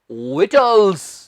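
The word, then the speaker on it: victuals: है विजुअल्स पर नहीं इधर सही उच्चारण है विटल्स जी हां प्याज स्नो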